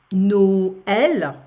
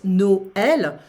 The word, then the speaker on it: Noël: Fête, So tréma, how do we pronounce that? Well, usually we separate the vowel from the rest of the word. So imagine you have Noël, Christmas, Noël.